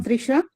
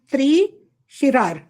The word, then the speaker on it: त्रिशिरा: कमोदकी, अतिक्या और त्रिशा, और शुक्ल पक्ष की ठहरो, अतिक्या के बाद क्या लिखा है? त्रिशर, त्रिशर, त्रिशी, ये गलत है। आचार्य जी उच्चारण गलत हो रहा है, त्रिशिरार।